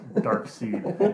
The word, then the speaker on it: Darkseid: Because it's Darkseid. Okay, I'll throw up on you if you pronounce it Darkseid. It's Darkseid.